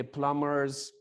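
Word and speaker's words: plumber: वो अकेला तो नहीं ना करेगा, पठान भी आ जाएंगे, यानी कि प्लम्बर्स, electricians and stuff. प्लम्बर कोई वर्ड नहीं होता, बी साइलेंट होता है, क्लियर?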